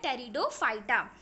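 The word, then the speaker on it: Pteridophyta: P silent होता है student, इसमें थर्ड क्या आ गया, टेरिडोफाइटा.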